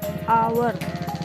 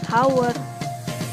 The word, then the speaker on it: hour: seperti nomor 2 ini dibacanya hour bukan Howard jadi terdengarnya seperti huruf vokal depannya padahal tulisannya diawali huruf H jadi seperti itu ya